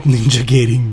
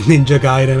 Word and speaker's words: Ninja Gaiden: Stop ninja gating me, Vince. And I know it's pronounced Ninja Gaiden, I just wanted to piss you off.